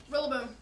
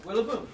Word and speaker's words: Rillaboom: Think about it. Gorilla-boom. Nope. It's a gorilla.